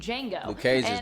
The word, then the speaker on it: Django: tarantino film django unchained where jango instead is spelled with a silent d also i feel like